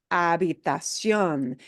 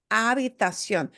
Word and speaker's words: habitación: What do we do with that H in Spanish? Silence. Silent, yeah. Unless it's a CH, that combination we do voice as the ch sound, right? Which is exactly like what we do in English. But lache, the H, we don't pronounce at all.